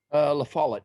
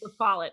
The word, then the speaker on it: LaFollette: LaFollette, yeah. LaFollette.